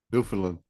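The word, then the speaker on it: Newfoundland: It sounds like people are saying New Finland when they say New Foundland." Yeah, New Finland. That's how it's pronounced. New Finland. That's how they said it when I was there.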